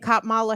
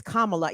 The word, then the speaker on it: Kamala: cop Mala vice president cop Mala Harris it's Kamala yeah I said it cop